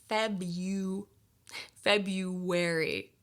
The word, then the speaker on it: February: might have noticed that the pronunciation is different than the spelling we don't say February we say Feb you February February oh my gosh